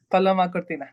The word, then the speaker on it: Paloma Cortina: A truly enlightening conversation with Paloma Cortina. Am I pronouncing it correctly? Yeah, Paloma Cortina.